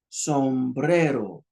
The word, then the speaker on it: sombrero: Look at the first word. Sombrero. It didn't say sombrero. Sombrero. That word means hat.